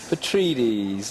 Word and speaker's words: Petrides: Petrides, there we go.